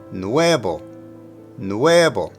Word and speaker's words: nuevo: The emphasis is on the E. Nuevo, nuevo. Remember, the V in Spanish typically is pronounced like a B sound.